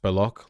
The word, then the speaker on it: Baloch: It's pronounced Baloch like chocolate.